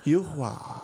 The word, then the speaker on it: Yuhua: Because I noticed RuPaul pronounces it one way and you do it another. Yuhua. Yuhua.